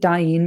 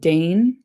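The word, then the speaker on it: Dain: I'm going to pronounce it Dyne, by the way, not Dne.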